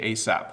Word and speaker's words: ASAP: Beto has, hello Bob, I would like to ask how to pronounce ASAP. We actually say ASAP.